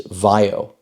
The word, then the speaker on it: VAIO: up on that is vaio which ironically rhymes with IO and they make sure